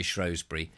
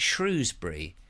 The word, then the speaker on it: Shrewsbury: And they always say Shrewsbury.